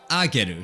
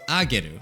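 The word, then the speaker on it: 上げる: But when it's next to hiragana, it changes the pronunciation. And instead of being ue, it is now ageru. So it's an A sound now. So ageru. But when it's put next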